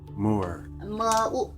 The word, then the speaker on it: 木耳: 木耳 Mu'er.